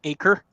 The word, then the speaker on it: Acer: am there we go Acer hey came up sweet it's pronounced acre that's randomly weird but okay sweet so